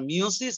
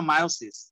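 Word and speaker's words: meiosis: আরে আল্লাহ এই গরুটা আবার মেসেজ দিছে স্যার মিওসিস না মায়োসিস তোর কল্লা তোর মাথা ছাগল কোথাকার মিওসিস না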